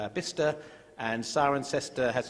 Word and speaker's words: Bicester: In England, we're very strange, so that Bicester becomes Bister, and Cirencester has its